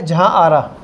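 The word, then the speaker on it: जहाँआरा: पहला है जहां आरा। जहां आरा, ये आरा प्रोनाउंस करना है इसको, आरा, ठीक है।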